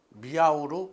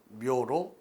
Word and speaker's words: MEAW: 처음에는 이러한 묘는 미아우로 발음이 되었습니다. 그런데 이와 같은 묘라고 하는 것 자체는 이와 같이 중국 한자에 있어서 매직 테크닉의 의미를 가지고 있습니다. 이럴 때 발음 자체가 한국, 중국, 일본 똑같이 묘로 발음이 되기 때문에 김 교수님께서 이와 같은 묘의 발음을 묘로 다시 확인하였습니다. 그래서 여러분들이 MEAW를 발음하실 때는 항상 묘라고 여러분들이 발음하시면 좋겠습니다.